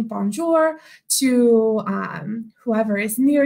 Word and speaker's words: bonjour: so to say hello in French you say bonjour so that one's a little bit harder to spell it's b o n j o Ur So bonjour thank you all for joining me